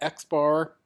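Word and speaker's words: x̄: That's X with a little bar on top of it. And that's how we pronounce that. We call that X bar.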